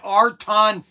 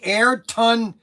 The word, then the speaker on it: Ayrton: Okay, so Snuggles says I keep saying Arton Sienta. And so he sent me, I guess the correct way to pronounce it. Say Ayrton Sienta.